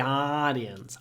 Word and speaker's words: audience: the actors the audience Americans say the audience audience audience would be British English imagine that this U is a w oh audience something a bit more like that orience the audience stood up